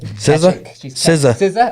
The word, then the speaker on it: SZA: SZA. Oh, is that how you pronounce it?